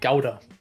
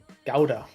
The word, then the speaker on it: gouda: it's okay but in in german we say gowda gouda oh god but